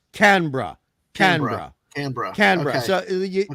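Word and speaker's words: Canberra: the canar is the bur and it's not pronounced but flows saying C canbera is more can can no that's true it's canra canra canra canra so c h sorry c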